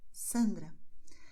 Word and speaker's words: Sandra: E a letra S, observe, ela terá som de S quando ela aparece no começo da palavra, Sandra.